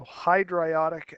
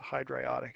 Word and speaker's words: hydriodic: So hydriodic acid is how you would say that. It's spelt that way, but it's a hydriodic acid.